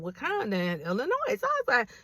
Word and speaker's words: Wauconda: So it's it's Wakanda, not spelled with a K. is spelled W A U C O N D A Illinois, zip code 60084, area code 847 or 224.